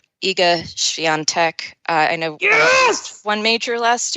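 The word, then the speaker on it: Świątek: Swiatek. And there is actually an N sound in there. It doesn't, she's Polish.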